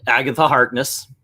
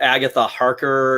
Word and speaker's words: Agatha Harkness: to touch upon um agatha harkness i said it right this time yeah okay i think i was calling her agatha harker or something like that the first yeah it's